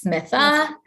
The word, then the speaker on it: Mita: There's no H in it. I've taken liberties of now including in my signature, pronounced as Smita, right?